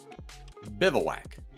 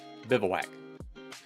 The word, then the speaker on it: bivouac: Hersh bivouac and yep people think that I'm pronouncing it wrong well I'm not uh because I had to look it up to make sure and you get a little closer b e v o u a c or excuse me b-i-v sorry I'm reading it backwards bivouac there we go yeah but remember way that looks doesn't people don't quite think that's the pronunciation but it is you've been on bivouac